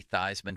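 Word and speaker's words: Theismann: to run a campaign, it's got to be Thyman for the Heisman. You got to change the pronunciation of your name."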